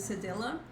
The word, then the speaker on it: cedilla: In Portuguese we say cedilha, cedilha, but the pronunciation of this in English is cedilla.